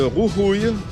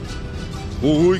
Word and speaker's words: Jujuy: Ce petit village fait partie de la province de Jujuy, Jujuy qui s'écrit J-U-J-U-Y.